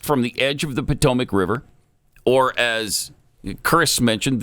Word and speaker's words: Potomac: It's literally It's spelled spelled just like it sounds. Potomac.